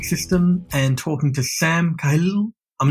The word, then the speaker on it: Khalil: Khalil, if you want to pronounce it in Arabic. Khalil. But I love it. Khalil? I love it. Or you can Khalil. say Khalil if you want to anglicise it.